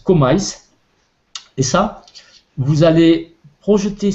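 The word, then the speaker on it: KMYS: ce code c'est comil ça s'écrit K m Ys K m y s ça se prononce comise et ça vous allez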